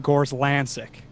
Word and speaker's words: Gorzlancyk: gotta ask real quick do you pronounce your last name gorslanzik well done yeah very nice yeah exactly